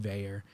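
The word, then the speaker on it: Vaer: you never need to worry about that with vayer especially if you have one of the automatics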